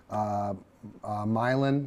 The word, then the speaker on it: Milan: And for about 12 different towns, places like Clinton, Eldridge, DeWitt, Milan. I think I'm pronouncing that correctly. Yes, it's a Not little Milan. You got it right.